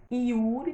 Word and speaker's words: Yuri: Então, Yuri tem som de I, mas normalmente escreve-se com Y.